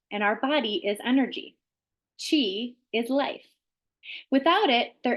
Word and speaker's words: qi: force inside your body called Chi and it's spelled Qi and Chi is the